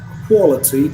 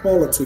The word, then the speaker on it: quality: well after the sound when you pronounce quality after the kill sound your round should go i mean your lips should go lips should go round okay so it's actually